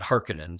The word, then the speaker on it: Harkonnen: And we used Frank's as our gold standard — that Frank pronounced it "Harkonnen." So I don't care what the David Lynch movie says. It's "Harkonnen," not “Hark-cone-an."